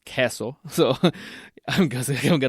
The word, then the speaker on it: queso: People in Texas say queso. I really don't like to say queso because I'm from Costa Rica and I know that it's pronounced queso, so I'm gonna say queso.